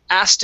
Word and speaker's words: asked: Now, the trick with the word asked, okay, is we do not pronounce the K.